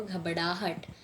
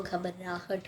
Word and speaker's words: घबराहट: चौथा शब्द है घबराहट कुछ लोग बोलते हैं घबराहट में कि वह घबड़ाहट लेकिन वह घबराहट नहीं घबराहट है हम रॉ लिखते हैं डर नहीं वह घबराहट होती है तो फिर हमारा पांचवा